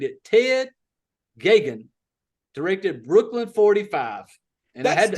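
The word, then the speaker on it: Geoghegan: He says, he's like, Gagan. Gay-Gun. Oh, okay. Gagan. Basically rhymes with Reagan is what he sent me.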